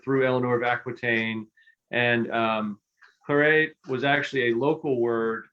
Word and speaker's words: claret: So, so it's pronounced claret. That word is pronounced claret in London, and that's where the name really began.